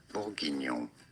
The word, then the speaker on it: bourguignon: In French, it is said as bourguignon.